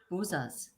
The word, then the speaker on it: Buzas: Oh, Buzas. I think it's Hungarian. She says that's how she pronounces Buzas.